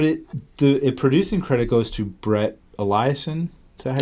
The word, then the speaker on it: Brett Eliason: But it producing credit goes to Brett Eliason.